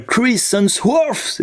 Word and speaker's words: Chris Hemsworth: Entre d'un côté, on a l'acteur qui joue Thor, hein, voilà, Chris Hemsworth, c'est bien prononcé ou c'est une catastrophe?